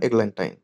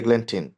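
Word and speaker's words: Eglantine: তার নাম ছিল হচ্ছে ম্যাডাম এগল্যান্টাইন অথবা এগল্যান্টিন। নাম তুমি যেটাই উচ্চারণ করো, স্পেলিংগুলো একটু খেয়াল রাখতে হবে।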